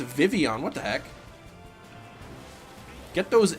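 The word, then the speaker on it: Vivillon: day it is pronounced Vivion what the heck get those L's out of there then I guess because the Double L is pronounced like a y is that what you're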